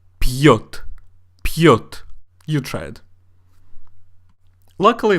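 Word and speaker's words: пьёт: So make sure that you do say пьет.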